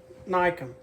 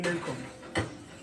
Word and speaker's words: Newcomb: Kyle Nycomb, a.k.a. Newcomb. It's Nycomb, but it's spelled Newcomb. He should change the name. He should change the spelling of his name, because it should be spelled N-I-E.